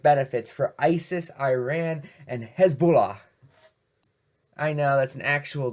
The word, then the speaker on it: Hezbollah: for ISIS, Iran, and Hezbollah. I know that's an actual group, but I can never pronounce it right, sorry. Hezbollah. It's how I pronounce it, but without the weird Dracula tint.